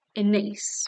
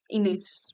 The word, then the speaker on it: Ines: In Spanish, my name is Ines, but in English, because my parents are British, they decided to invent how it's pronounced, and it's Innes, rhymes with face.